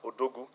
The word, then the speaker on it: Odogu: So Bodu is the border at Odogu. So I don't want us to start pronouncing it as an English acronym. It is African. It is Nigeria. It is Odogu.